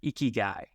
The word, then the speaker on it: Ikigai: The kind of closest thing they have to this idea of retirement is this word pronounced Ikigai.